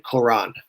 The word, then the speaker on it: Quran: You can see it's spelled Koran or Quran. It's the sound of it essentially is when you say it, it's going to be the same thing, Quran.